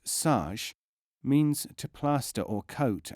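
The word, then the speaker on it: سج: SJ, pronounced saj, means to plaster or coat as with clay.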